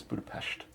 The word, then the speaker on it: Budapest: So we started in Budapest, but he's pronouncing it correct. It really is Budapest.